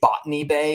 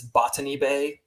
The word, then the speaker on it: Botany Bay: And they say Botany Bay is how they say it in the song, but it's Botany Bay, like a botanist.